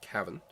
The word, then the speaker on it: Cavan: But Cavan, County Cavan in Ireland.